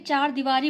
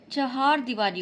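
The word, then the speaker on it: चहारदीवारी: चर्मोत्कर्ष ठीक फिर देखिए चार दीवारी बोलते हैं हम लोग चार दीवारी बोलते हैं तो समझते हैं चार की स्पेलिंग वही चार वाली हो जाएगी चहार दीवारी होता है।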